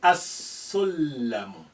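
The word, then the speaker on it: السلم: Sin is a sun letter. You will say as-sullamu. As-sullamu.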